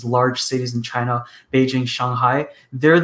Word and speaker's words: Shanghai: I was in Shanghai, actually, I should say it correctly, Shanghai, a number of years ago, but I was very fortunate to come in right after a typhoon.